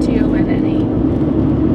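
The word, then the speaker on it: tonne: 1,000 pounds in a T-O-N-N-E. Which is pronounced ton, just like your other ton.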